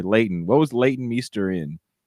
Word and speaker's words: Leighton: leading me what was leeton meester in am i saying it right layton sorry layton what was leighton meester